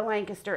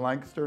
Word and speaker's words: Lancaster: Right, and I think that's one definitely plus for the Lancaster area is the diversity.